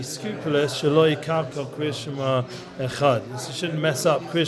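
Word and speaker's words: אחד: Yeshomim Achad, it's no longer Echad, it's Achad, like the Ches takes over within an Aleph, and it starts to sound like two syllables.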